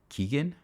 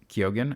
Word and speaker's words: Keoghan: Chris Hemsworth, Mark Ruffalo, Halle Berry, and Barry Keoghan. Keoghan? Keoghan. I'm not sure how to I think pronounce that's how you say that it.